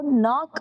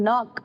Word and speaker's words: knock: ஸோ நாக் அப்படிங்கிறத pronounce பண்ணுவோம். இதில் வந்து இந்த ஃபர்ஸ்ட்ல இருக்க கே வந்து சைலண்ட் நமக்கு. ஸோ அப்படி ஃபர்ஸ்ட்ல இருக்க கே சைலண்ட்ல வரும்போது என்ன சொல்லுவோம்? நாக் அப்படிங்கிறது தான்.